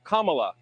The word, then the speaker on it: Kamala: um hosts on Fox her name is pronounced comma like the punctuation mark La Kamala okay seriously I've heard